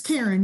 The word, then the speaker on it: Karen: your first name right is it karen or karn it's karen you're doing great wonderful